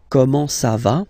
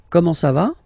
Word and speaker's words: comment ça va: Comment ça va? Okay. You raise a little bit at the end. Comment ça va?